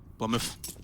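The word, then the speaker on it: blameF: they've got the advantage plummet it's a two-syllable name plum if okay behind him this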